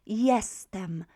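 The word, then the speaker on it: jestem: i am in polish is this word here yes them yes them and you can see straight away that the first letter j is pronounced as a together ah yeah yeah that's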